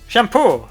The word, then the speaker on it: Champor: Champor, yeah. It's two words focused together, isn't it? Sham and pour.